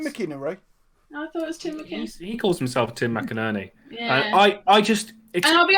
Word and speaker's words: McInerney: I call him Tim McInnery because it's wrong, but it's how I pronounce it. I thought it was Tim McInnery. I thought it was Tim McInnery. He calls himself Tim McInerney.